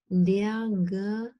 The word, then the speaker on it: der: The R is not pronounced. It's a deep schwa. Roch. And I can voice that. Der Geruch.